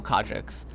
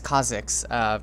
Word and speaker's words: Kha'Zix: You can either voice up and just tell Kha'Jix, oh, his name's Kha'Zix, just Korean, pronunciation, but you tell Kha'Zix, to only gank top or bottom, because mid mm-hmm.